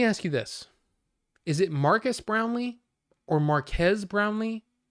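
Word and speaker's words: Marques: wait hold on so he pronounces it himself as Marquez Marquez okay it looks like it's uh Marcus okay Marcus but he pronounces it as Marquez the Str okay well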